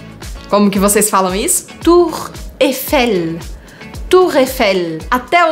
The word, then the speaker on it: Tour Eiffel: Tour Eiffel. Tour Eiffel. Até o nome dela já te faz sorrir. Tour Eiffel. Você tem que dar um sorrisinho mesmo e não pronunciar esse I.